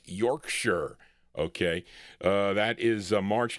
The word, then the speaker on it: Yorkshire: I used to say Yorkshshire, but it's Yorkshire.